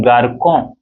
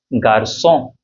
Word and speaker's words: garçon: So rather than saying this garçon means boy, if without this you know, if you remove this cedille from c, this become garcon, which is not correct actually. So you know, to make it the pronunciation very correct, we add this cedille here, and the sound becomes garçon, le garçon, the boy, okay, le garçon.